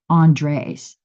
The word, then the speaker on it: Andres: Andres. And you did tell me the S is pronounced, right, Andres?